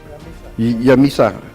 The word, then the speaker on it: Yamisa: Yamisa. Ya, Pak. Ejaannya gimana? Ejaannya? Yamisa. Y A-I-S-A. Y A Y-A-M-I-S-A. M-I-S-A. Ya, Yamisa.